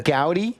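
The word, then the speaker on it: Goudey: I don't know I how to pronounce this a g u d y sheet G say it again oh gouty yeah so you used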